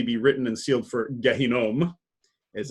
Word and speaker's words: Gehinnom: Gehinnom is how you say it in Hebrew. It often gets sort of Englishized as Gehenna.